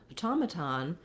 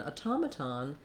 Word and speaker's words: automaton: When we get to automaton, the pronunciation changes significantly. So it looks the same except for the last syllable, but in automaton, the main stress is on the ta syllable.